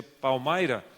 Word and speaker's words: Palmyra: Então, a primeira vez que eu fui a um lugar que se chama Palmyra, se escreve Palmira, mas se pronuncia Palmyra, em estado de Nova